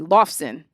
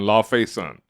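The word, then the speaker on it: Laufeyson: start with loki and how you pronounce this loss because vermont pronounces it differently lofsen well it's loffy is is his father and so it's odin's son thor odinson because he's odin's son la fay son so he's yeah so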